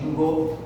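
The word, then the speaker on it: Ginkgo: Certo que o K ele aparece. Então, Gingo, o som do K é mudo, tá?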